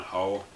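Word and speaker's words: Hough: These are both directed by John Huff, or John Ho. I assume it's pronounced John Huff.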